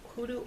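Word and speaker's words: hoodoo: Michael uh hudoo oil that you can pick up at most botanicas. And I say it like that because that is the correct way to pronounce it.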